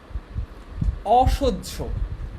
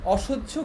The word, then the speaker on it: অসহ্য: অসহ্য, অসহ্য কি উচ্চারণটা দেখো, অ তালব্যস্য ওকার, বর্গীয় জ, ঝ ওকার, অসহ্য, অসহ্য।